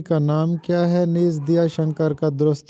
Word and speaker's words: دیا شنکر: نیز دیا شنکر کا درست تلفظ بتائیے۔ تو یہ درست تلفظ ہے دیا شنکر۔ اکثر لوگ اس کو دیا شنکر پڑھتے ہیں، جبکہ درست تلفظ ہے دیا شنکر نسیم۔ دیا شنکر نسیم کی مثنوی